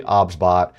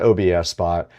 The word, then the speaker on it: OBSBOT: The pronunciation of the product is actually OBSBot. It is not OBS Spot.